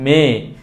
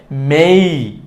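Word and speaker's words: May: আমরা একটু দেখে নিব এম এ ওয়াই বাংলায় উচ্চারণ করি আমরা মেয়ে মেয়ে মাস তাই না এই ছেলে এই মেয়ে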